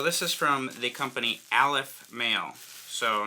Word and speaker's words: Aleph Male: is from the company Aleph mail so not to be confused with alpha male it's not helping out it's pronounced Aleph mail and we have well